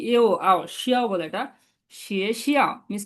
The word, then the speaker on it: 学校: শিয়ে শিয়াও miss কি school, এটা second আমার সাথে বলেন। এটা হবে শিয়ে শিয়াও। এটা সেকেন্ড টার্ম 学 স্কুল। 校 শিয়ে শিয়াও বলেন তো।